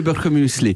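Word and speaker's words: Birchermüesli: Très connu en Suisse, le birchemuesli. Ah oui, mais parce que vous êtes les premières personnes au monde que je rencontre qui prononcent bien ce que moi j'appelle le birchermuesli.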